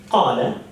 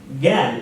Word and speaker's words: قال: So the letter qaf in the word qala, which means he said, is pronounced qala in Yemen, gal in the eastern part of the Arabian world, and al in the northern part of the Arabian world.